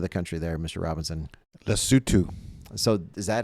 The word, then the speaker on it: Lesotho: Lesotho. So is that how the natives say it? Lesotho?